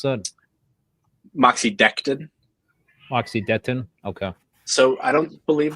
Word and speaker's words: Moxidectin: Tim, is that how you pronounce that? Moxidectin. Moxidectin.